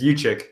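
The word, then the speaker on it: Juszczyk: their signing of Kyle yitz that's how you pronounce it right it's yuchi yuchi yeah for four years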